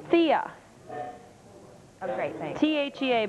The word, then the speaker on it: Thea: Thea oh great thanks t h EA but you pronounce it Thea the for 24 hours